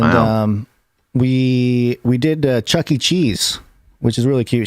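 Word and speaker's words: Chuck E. Cheese: we we did uh chuck e cheese which is really cute she can't pronounce it she says cheeky cheese which is um you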